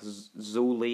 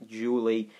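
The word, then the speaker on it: Zhu Li: is julie or like zuli it's but like with a z but i think it's pronounced julie and then very actually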